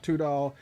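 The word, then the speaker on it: Tudahl: that's spelled d-u-a-n-e and two-doll is t-u-d-a-h-l uh it's a traditional spelling of two according to him don't forget that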